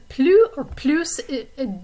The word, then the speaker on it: plus: of more than is plus the s is sometimes pronounced in this word most of the time it's not if there's an adjective that's following it and it doesn't begin with a vowel sound like this dynamic right here the s is not going to be pronounced it'll be silent and you could plug in